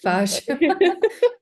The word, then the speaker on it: Fage: So for me, I use Fage. It looks like it's spelled Fage, and it's got a few I've said strains fish for added. so long. Fage. It says it on the side, so pronounced Fage.